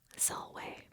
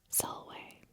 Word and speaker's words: salve: But to say hello in Latin is salve. Salve.